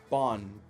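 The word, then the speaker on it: Baun: I'm not mispronouncing this guy's name, right? I mean, Bond, B-A-U-N.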